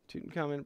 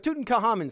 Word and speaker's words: Tutankhamun: gotta look up how to say tootin common Tutankhamun Pro pronunciation I gotta make sure I say that